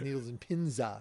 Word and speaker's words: Needles and Pins: But it's very much in that same needles and pins. I was going to say that the actual pronunciation of the name of the song is Needles and Pinza.